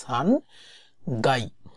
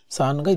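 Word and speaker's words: 3階: সো এখানে কিন্তু কাই বলা যায় না, এখানে হচ্ছে গাই, উচ্চারণগত সুবিধাতে 3 階 । তো বিরু, বিরু হচ্ছে বিল্ডিং, 3 階 দিস।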